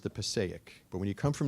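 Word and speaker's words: Passaic: a river in New Jersey it's called the Pake River you know it's the way I pronounced it it's properly pronounced the pic but when you come from New Jersey you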